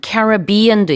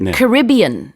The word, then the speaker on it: Caribbean: 지금 얘기한 Caribbean도 있고 Caribbean 이렇게도 북미권에선 발음하더라고요.